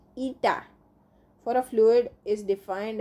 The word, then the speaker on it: eta: Now the coefficient of viscosity, that is pronounced eta, for a fluid is defined as the ratio of sharing stress to the strain rate.